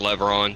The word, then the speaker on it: Levron: Yeah, it's pronounced Levron, just like okay. like the oil company Chevron, but with the L.